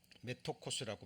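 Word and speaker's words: μέτοχος: 메토코스라고 발음이 됩니다.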